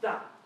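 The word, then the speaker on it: 大: Now this character, you can see, has a line on top that goes down. That means it's the 4th tone, pronounced da.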